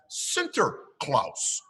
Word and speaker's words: Sinterklaas: But this was a long, long time ago, somewhere far, far away, and they pronounced Saint Nicholas as Sinterklaas.